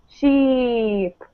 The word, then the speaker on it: sheep: And then the E sound, to make this sound, you're really smiling. So sheep, sheep.